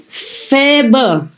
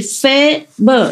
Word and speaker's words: Faber: It's written F-A, like in Vietnamese A. It's like cafe in French, pronounce it like A in French. And B and is pronounced more or less like like in urgent. Nah? So I say Faber.